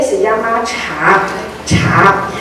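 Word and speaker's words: 茶: chino en el mundo ustedes saben cómo se pronuncia t en chino mandarin muy bien ch muy bien cha no cha se pronuncia cha cha y hasta hoy en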